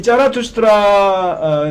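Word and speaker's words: Zarathustra: 근데 이 짜라투스트라가 바로 조로아스터의 독일어 발음이 이 짜라투스트라입니다. 이 짜라투스트라 니체가 짜라투스트라 어떻게 보면 기존의 철학을 이게 뒤집는데 이 짜라투스트라를 이용해서 이제 뒤집습니다.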